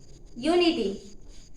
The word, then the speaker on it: unity: बट in second fill in the blanks, unity, it is a vowel letter but its pronunciation is not a vowel sound, because हम क्या बोल रहे हैं यहाँ पर, यूनिटी। यूनिटी यानी य, एंड य क्या है, हिंदी लैंग्वेज का एक व्यंजन है, यानी कि ये वोवेल